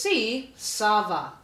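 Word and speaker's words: tsava: Sava the answer is remember it's spelled with that silent t t s a v a the answer is C Sava number seven the tree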